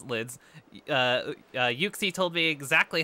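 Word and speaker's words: Uxie: it yuxy okay so it is it is yuksi yuksi that is the official pronunciation thank you for checking that for us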